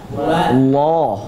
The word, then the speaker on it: Allah: Qul Qul huu wa Allah Hu hu a begitu ya digunakan Cara pengucap harakathakatnya qulhuwallahu Ahad Qul huwallahu Ahad ah sekarang harakat apa ini fathah a a Bacanya apa a bukan o Allah Allah a a Allah Allah